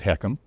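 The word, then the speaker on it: HECM: That's a home equity conversion mortgage, letters H EC, and we pronounce it heckham.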